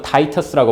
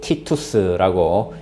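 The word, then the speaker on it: Titus: 여러분 아마 영어로는 타이터스라고 발음할 것이고요. 아마 학생들 중에 또 라틴어를 배운 학생은 이를 티투스라고 읽겠지요.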